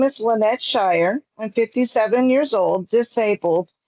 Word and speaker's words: Shire: Yes, Shire. You said it right.